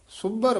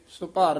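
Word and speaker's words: ਸੁਭਰ: ना मिटिया जाई रे सुभर भरे ना होव ने य सुपर नहीं बोलना सुभर उच्चारण करना है इस द अर्थ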